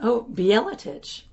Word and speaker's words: Bjeletich: Oh, Bjeletich.